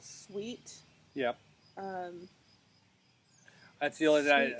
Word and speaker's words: Swheat: sell it at other big box pet stores, but it's spelled SWHEAT. Yeah. S wheat, because it is a wheat based.